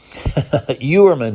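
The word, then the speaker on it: Heuermann: if you're interested in Mr Herman youerman I think is the correct pronunciation and it has a very odd spelling too I think it would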